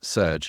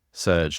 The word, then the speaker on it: Serj: Hey ChatGPT, my name's Serj. It's spelled S-E-R-J, but you pronounce it like surge, like a surge of energy.